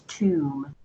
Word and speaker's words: tomb: Number 1, tomb. Tomb. So although the B is silent, it doesn't mean that we say Tom, it's tomb.